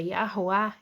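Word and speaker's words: יהוה: vav rei aqui ó que pronuncia yahua yahua em hebraico antigo Você conhece por yud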